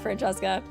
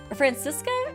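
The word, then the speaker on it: Franziska: crap oh my God Francesca francisa it might be pronounced francisa ah that quack that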